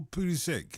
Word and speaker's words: Pulisic: Is it Pulisic or Pulisic? How do you pronounce it?